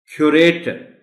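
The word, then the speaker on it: curator: क्यूरेटर, CU है, क्यूरेटर, R पर stress है, पहले R पर.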